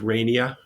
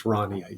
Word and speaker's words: Rania: Some people start with Rania, but it's Rania.